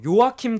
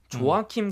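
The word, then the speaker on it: Joachim: 뭐 요아킴 크롤, 조아킴 크롤이라고 이렇게 기록이 되는데 제가 맨 처음에 조아킴 크롤이라고 찾으니까 글루미 선데이 무슨 배우인가 뭐 이런 사람이 나오더라고요. 그래요. 안 나왔어요. 영어로 치니까 나왔는데 이 사람 그때 저희는 요아킴 크롤이라고 읽는 게 맞을 것 같아요.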